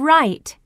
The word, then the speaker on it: write: the beginning sound in right that's right can you hear the sound in right no that's right the W is silent right age 64.